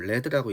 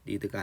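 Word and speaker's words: lead: 이건 레드라고 읽죠. 레드, 리드가 아니라 금속 물질 중에 납을 얘기하는 거죠.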